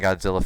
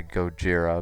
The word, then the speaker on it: Gojira: know in the American Godzilla film that was what they mispronounced him as or whatever or they mispronounced as Godzilla when it's actually go Jiro but either way it's